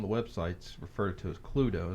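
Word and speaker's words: Cluedo: invented the game in 1944 it's called pluto pronounced pluto meaning clue and the latin term ludo meaning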